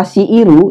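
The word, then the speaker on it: 強いる: Jadi kata shiiru ini dibaca seperti ini bila kanji ini bersebelahan dengan hiragana i dan ru.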